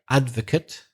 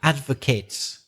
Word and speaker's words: advocate: in favor of something it can also be a verb but strangely the pronunciation changes so if you're a person you're an advocate but what you do is that person advocates for something so that